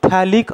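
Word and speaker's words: phthalic: अडचण काय तुम्हाला फक्त थॅलिक अनहायड्राइड ची गाणी आणि स्ट्रक्चर काढता आलं पाहिजे हे बनवतात कसं ते पण सांगेन मी तुम्हाला थॅलिकची स्पेलिंग पीएच पासून असते पी सायलेंट असतं है ना लक्षात आलं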